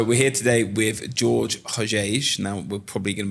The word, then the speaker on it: Hojeige: Hojeige. Hojeige. Hojeige. Try not to put the accent on the ho.